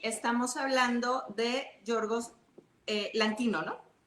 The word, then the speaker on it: Lanthimos: Y estamos hablando de Georgos eh Lantino, ¿no? No sé si lo pronuncio bien. Látimos. Lantimos. Látos, exactamente, griego.